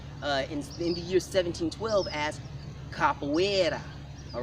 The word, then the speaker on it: Capoeira: inside of Africa, and that fighting system was mispronounced by Rafael Bluto in the year 1712 as Capoeira.